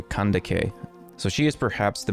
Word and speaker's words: Kandake: can take Amani renas I don't think actually that this is pronounced as candic I think it should be closer to kandake so she is perhaps